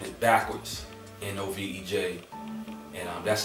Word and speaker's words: Novej: and spelled it backwards, N-O-V-E-J, and that's how I came up with Novej. I pronounced it, with the J being silent, and did further research